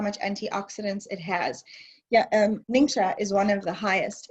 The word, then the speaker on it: Ningxia: ningxia province in china it's actually pronounced ningxia like n-i-n-s-h-a but a lot of